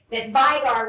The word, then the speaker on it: Vigar: I think there's no coincidence that Vigar rhymes with tiger.